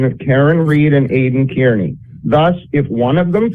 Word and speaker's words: Kearney: 2025 active investigation of Karen Reed and Aidan Kearney. Thus, if one of them flips, you don't know how to say Kearney yet. It's Kearney, dude. It's pronounced Kearney.